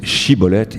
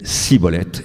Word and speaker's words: Shibboleth: Vous savez que les Éphraïmites ne pouvaient pas prononcer Shibboleth, ils disaient Siboleth, et c'est comme ça qu'ils furent massacrés.